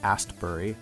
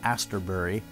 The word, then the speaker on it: Astbury: him okay moving on I realize I've been adding a stupid syllable to the singer of the Colts name mark is absolutely correct at Ian Astbury for some reason I've been calling him Ian Astbury I don't know why